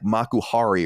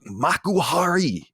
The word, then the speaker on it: Makuhari: So I got into the back of this cab and I was like, Makuhari or something. And he was like, I was not saying it right though. He's like, Makuhari, like getting mad at me or whatever.